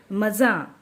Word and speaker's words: मज़ा: इसका मज़ा, हम ऐसे नहीं बोलते कि मज़ा, मज़ा नहीं बोलेंगे, मज़ा, मज़ा चखाएगी।